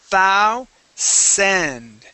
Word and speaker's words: thousand: All right, so when we pronounce this, remember we want to start off with our tongue between our teeth. Okay, like that. We say thou send. Okay, so tongue out and then it comes back in so that we can pronounce that that S sound.